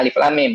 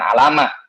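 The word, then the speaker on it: الم: Alif Lam Mim ya bacanya Alif Lam Mim bukan alam ya kalau alam itu orang kaget itu alam ya Alif Lam Mim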